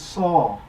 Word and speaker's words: Sau: the breath goes out mentally chance saw rhymes with Saul and move the index